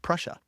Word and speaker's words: Prussia: at Hiller's headquarters the wolf's lair in East Prussia that's how you say it Prussia Prussia oh